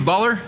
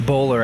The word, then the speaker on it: Boller: here today with baller I hope I pronounced your name right it's bowler actually he's bowler you were very close though I think it's